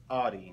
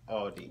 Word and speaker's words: Audi: to do okay and it's Audi not AI listen man AI is